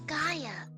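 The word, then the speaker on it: Skaia: This is Skaya. Is that how you pronounce it?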